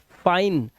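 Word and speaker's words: fine: Size, अब इसे life नहीं पढ़ना है, लाइफ, फिने नहीं, गलत, फाइन, और लास्ट वाला ई आपको पढ़ना नहीं है, ये मैं रूल में आपको बता दिया था, ठीक है।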